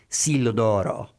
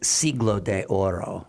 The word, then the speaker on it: Siglo de Oro: I pronounced it in my class as the Siglo d'Oro, like Italian, Age of Gold, but it's Siglo de Oro, right?